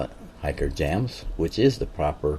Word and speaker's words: Hikerjamz: Um, some call it hiker jams, which is the proper pronunciation, but I didn't notice that when I made that name and so, but I stuck with it.